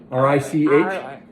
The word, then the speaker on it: Reich: And you pronounced it Rich. Rich. But it would be Reich. Yeah. I think we would not say Reich in the United States in the 30s. We wouldn't say Reich.